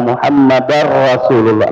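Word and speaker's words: محمدًا رسول الله: Makanya harus tepat ya pengucapannya ashadu anna muhammadar rasulullah. Nah di sini ya asalnya rasulun ya. Anna Muhammadan rasulun. Nah kenapa ee di sini berubah ya anna muhammadar langsung masuk ke rawin ketemu ra ya.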